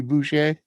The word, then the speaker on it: Boucher: all I know is I pronounce his last name correctly. All It's right. Boucher. Cool. Okay? Like Bobby Boucher.